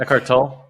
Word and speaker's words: Eckhart Tolle: Eckhart Tolle.